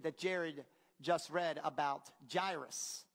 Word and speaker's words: Jairus: Jared just read about Jairus. Did I say it right? Jairus. I always thought it was Jairus, and I thought it would be appropriate for Jared to do the reading, but apparently it's Jairus, and Jared did a great job.